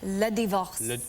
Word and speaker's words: Le Divorce: all right and am I saying it right pronounce it for me Le divorce Le divorce oh yeah there you go take a look